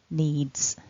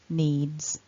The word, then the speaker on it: needs: the past tense form because of the voiced d ending on the verb need our s is actually pronounced as a voiced consonant so needs needs i'm not sure how